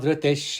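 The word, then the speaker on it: धृतिः: Now in the first pada, that is Tejaha, the visarga, it is followed by the letter ksha, kshama. Therefore, the visarga must be pronounced. Tejaha kshama dhrutish shaucham. Dhrutihi, the visarga here, it is appearing within the quarter, so it should not be pronounced.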